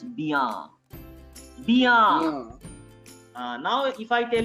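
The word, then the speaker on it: bien: Bia. B for B as ba, like Bombay. Sir, arekbar boardta dekhaben. So ba plus iya, bia. Ba plus iya, bia.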